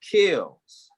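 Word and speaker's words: Keels: because the powers spell so it's k-e-e-l-s but it's really kills star kills i didn't think it was myself yeah people keep saying kills and i'm like kill its kills like keys but with the l keep kills kills so like heels rhyme with heels but kills no kill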